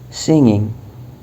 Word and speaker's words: singing: وحرف الجي هنا تكون خفيفة، فما ينفع تقول singing، غلط. singing غلط. singing كأنه ما في جي، انطقها كأنه ما في جي.